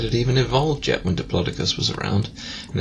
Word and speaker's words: diplodocus: tree like a tree trunk it's probably a diplodocus it's actually pronounced diplodocus i know i was disappointed as well does